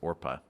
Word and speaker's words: Orpah: on her birth certificate it's orpah it's special oh i didn't know that and the family there was a discussion about how it should be pronounced so they just started calling her oprah and changed the spelling